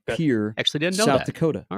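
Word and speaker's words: Pierre: Uh said ESPN correctly pronounced his hometown of Pier.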